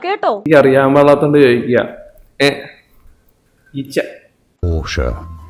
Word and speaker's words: Porsche: It is said as Porsche. കണ്ടോ? Porsche. It is Porsche. എന്റെ പൊന്നു കൊച്ചെ, നിനക്ക് വയ്യേ? It is Porsche, കേട്ടോ? എനിക്ക് അറിയാൻ പാടാത്തോണ്ട് ചോദിക്കുക. Porsche.